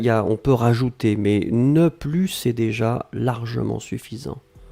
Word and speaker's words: ne plus: ensuite plus et là on ne prononce pas le s ne plus d'accord je n'en avais